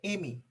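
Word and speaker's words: εἰμί: Tapi ada satu bahasa Yunani lagi yang artinya sama adalah aku, yaitu Eimi. E-I-M-A-I. Bacanya Eimi.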